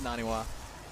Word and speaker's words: NaNiwa: Sorry, Moro, I just said his name wrong. It's NaNiwa as the red Protoss over here on the right side.